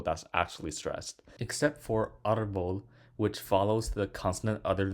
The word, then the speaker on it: árbol: It ends with L, so the stress should fall on the last syllable, vol, but it falls on the R, so we put the accent on the A.